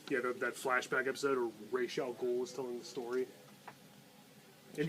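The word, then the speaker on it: Ra's al Ghul: the Spider-Man cartoon yeah that flashback episode or rachal ghoul is telling the story and yes it's pronounced Rael G bite me stop Spider-Man yeah the Spider-Man cartoon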